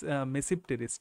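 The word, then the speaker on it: Tmesipteris: একটা হলো সাইলোটাম এবং আর একটা হচ্ছে মানে টি মেসিপটেরিস, ঠিক আছে? বা মেসিপটেরিসও বলা হয়, টি এর উচ্চারণটা করা হয় না।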